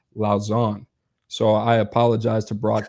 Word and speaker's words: Lausanne: It's actually pronounced Lausanne.